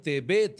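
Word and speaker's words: תֵּבַת: பதிலா என்ன வரும் தாவ் அப்ப இதை எப்படி உச்சரிக்கணும் நீங்க தேபா அப்படிங்கறது தேபேத் அப்படின்னு சொல்லி ஆயிரும் தேபேத் அப்படின்னா ஒரு பேழை ஒரு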